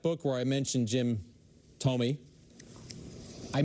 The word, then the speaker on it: Thome: I doubt you ever listened to the audio, but we wanted to make sure we pronounced it correctly. Jackson, Jim Thome. No, it's Thome.